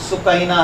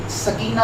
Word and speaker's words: سکینہ: ننھی شہزادی سیدہ سکینہ، عربی وزن میں یہ نام سکینہ ہے، لیکن عرف عام میں سکینہ بولا جاتا ہے، لہذا میں عرف عام والا نام استعمال کروں گا سکینہ، لیکن تلفظ بتا دیا ہے کہ سکینہ ہے۔ حضرت امام علی مقام